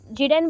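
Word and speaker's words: Giddens: Was used by Anthony गिडेंस, Anthony गिडेंस, ठीक है, जाइडेन बोल सकते हो, एंथोनी जाइडेन, बट जाइडेन का एक्चुअल स्पेलिंग अलग है, ये जिडेन बोलो गिडेन बोलो चलेगा, प्रोनाउंसिएशन आपको जानना है बस, एंथोनी जिडेन।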